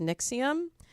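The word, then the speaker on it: NXIVM: this group that's spelled very funny but it's pronounced Nix iam and it's supposed to be a female empowerment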